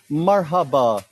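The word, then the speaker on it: Merhaba: Marhaba, Annie.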